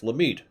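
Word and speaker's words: Lamitt: It's Lamit.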